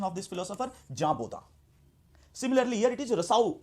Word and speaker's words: Jean Bodin: So here in French this will be pronounced as Jean, and this will be pronounced as Baudin. So what is the actual pronunciation of this philosopher? Jean Baudin.